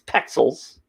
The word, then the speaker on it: Pexels: pixabay is another one pexels p e x e l s i always spell it wrong it's not pixels it's pixels uh and and i'm saying